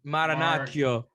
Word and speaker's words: Marinaccio: Marinaccio. Marinaccio.